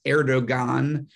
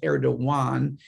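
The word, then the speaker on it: Erdoğan: recep erdogan i know people read it as erdogan but it's actually pronounced erdogan under erdogan he is taking turkey to the dark side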